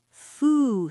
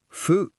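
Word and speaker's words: ふ: H plus U is special. Fu. Foo, not who. It's like blowing out a candle. Foo. Your lips don't touch.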